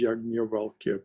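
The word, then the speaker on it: Yajnavalkya: to which we're drawn as yagnavalkya pointed out that's the proper name i've been saying it wrong earlier the reality considered as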